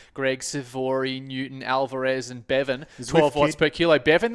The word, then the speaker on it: Bevan: Yes, so you can spell it how you want, but it's still Bevan.